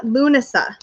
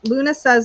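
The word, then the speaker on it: Lughnasadh: our best life amy uh lunasa is how i pronounce it i'm not sure if other people pronounce it differently um but i believe that luna says associated with the celtic god lou the sun god um so lunasa is how i say it yeah luna yes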